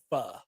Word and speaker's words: pho: It's pho, for the record. It's pronounced fun, Nick.